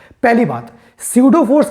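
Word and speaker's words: pseudo: इट्स अ स्यूडो, PSUDO, P silent है, स्यूडो या फिर वर्चुअल या फिर फिक्टिशियस, FICTIOUS, फिक्टिशियस या फेक।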